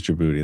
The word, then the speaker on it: Djibouti: I spell it the way a black person would say like, "Yo, bring Djibouti over here." You know? It's not spelled that It's spelled with a D at the beginning. A silent D.